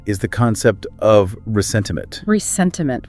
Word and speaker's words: ressentiment: Resentiment, with an R at the end. The French pronunciation.